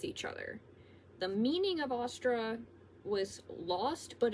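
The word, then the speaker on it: Ostara: Happy Ostra to all of my other pagans. My mom keeps pronouncing it differently. She keeps pronouncing it like oyster. I pronounce it Ostra.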